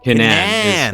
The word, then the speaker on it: Kinnan: Kinnan is how the family pronounces it.